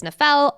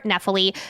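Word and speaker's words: Nephelle: There are two different pronunciations of it. It is Nephel or Nephili. Because we always tend to go off the pronunciation of audiobook, just for consistencies, for this episode, we are going to use Nephel, which is how it's pronounced in the audiobook.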